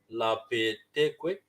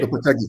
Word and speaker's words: Lopetegui: There's a lot of talk of Sevilla could be about to get rid of Lapeteque. Is that how you say it? Gue? Lopetegui.